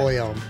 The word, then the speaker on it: Boyum: It's basically pronounced exactly the way it's spelled. Yeah. Boyum.